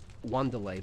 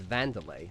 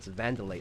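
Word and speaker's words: Wanderlei: name is pronounced uh wlay because it's spouted w an at the start but no it's vanderlay like the W is pronounced as a v so vandelay silver or then you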